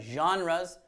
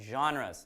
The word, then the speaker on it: genre: are your favorites what genres now that word can be hard for people to pronounce correctly right genre genre because the word genre is actually not an English word is actually French that's why the pronunciation